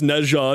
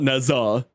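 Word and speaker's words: Nezha: I am very aware it's Neja not Neza it's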